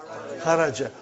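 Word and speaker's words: خَرَجْ: Say it properly. Kharaj. With sukun. You won't say with. You will say kharaj.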